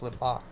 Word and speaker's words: Limbaugh: No, Is it Limbaugh or Limbaugh? it's Limbaugh. Yeah. You just listen to how he says it, and then you know.